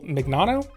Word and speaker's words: Mignano: In April of 2021, the CEO of Anchor, Michael Mignano, I think we're gonna go with that. I think that's how it's pronounced.